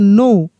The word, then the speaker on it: know: जैसे देखिए यहाँ पे KNOW, क्या पढ़ेंगे? नो। तो नो का ही फॉर्म है ये न्यू, नो से न्यू बना है। तो देखिए यहाँ पर भी के साइलेंट है।